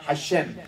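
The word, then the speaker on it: השם: 읽 < 샘에서 앞에 보면은 이게 정관사가 있습니다 하심이라고 읽 하 그 이름 the name이에요 더 name 우리 따라합시다 하샘 하 그래서 여러분들이 회당 도요 저는이 토요일 되면은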